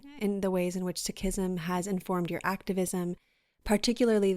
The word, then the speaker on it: Sikhism: background for listeners on the ways in which sikhism and i might be mispronouncing that so please correct me no you got it oh okay yeah great um so i'm wondering in the ways in which sakism has informed your activism particularly the teachings of